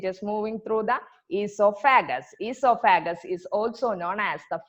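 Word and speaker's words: oesophagus: Esophagus is also known as the food pipe. You can see a O in front of that spelling, but O is silent. You should pronounce it as esophagus.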